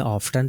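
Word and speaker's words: often: words है जो कि ब्रिटिश में ऑफ्टन पड़ा जाता है और अमेरिकन में ऑफ पढा जाता है रसल स्क्रैच फैशन हसल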